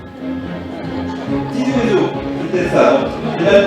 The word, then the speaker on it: Ti Zwezo: Karine Doran de Tizéou. Tizouézo, c'était ça, donc j'ai mal prononcé, je reprends.